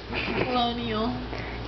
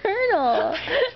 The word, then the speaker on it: colonel: You know, whenever I read that, I pronounced it colonel strange. Colonial. Colonial? No, it's colonel.